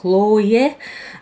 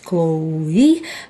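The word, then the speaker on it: Loewe: отправлен в компанию CH мы её по-русски называем лое а по-английски правильно произносить лоуи А по-французски я не знаю и ээ там Он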